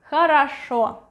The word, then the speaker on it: хорошо: If you are doing well, you say хорошо, хорошо, хорошо. The stress is here. Хорошо. Stressed O is pronounced clearly. Хорошо. This one is next to the stressed one, so it will be a clear A.